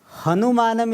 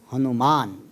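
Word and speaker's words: हनुमान: Hanuman, Hanu means jaw. Man means endowed with. Hanuman means the Devata who is endowed with a special jaw. Therefore it's called Hanuman.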